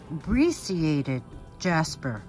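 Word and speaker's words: brecciated jasper: item number 21 this is a i was told how to pronounce it correctly uh because i pronounced it wrong in the previous sale it's um abbreciated jasper uh black onyx faceted beats and pewter findings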